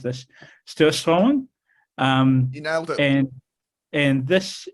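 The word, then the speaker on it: Surströmming: So the most disgusted one is called, and I'm bound to mispronounce this, Sturslång.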